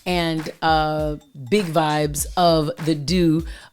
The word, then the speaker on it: Doux: big vibes of the Do, THEDOUX, pronounced Do, DOO.